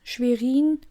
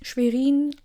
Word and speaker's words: Schwerin: Landeshauptstadt, Schwerin. By the way, one quick fact, Schwerin is like cities like, which was another city?